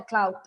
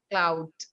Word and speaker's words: clout: use it is, oh, she's doing that for clout. That means she's doing that for attention and power and fame to be in the limelight. Clout. cloud.